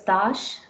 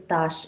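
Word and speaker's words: tache: You could see the first word is tash, the next word is tash again. Both are pronounced the same, tash and tash.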